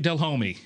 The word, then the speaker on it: Delhomme: get embarrassed by it I'm just proud of the way you said my last name I mean you said Jake dell homie I've been for now